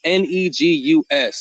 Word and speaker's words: Negus: It was Negus is how you pronounce it.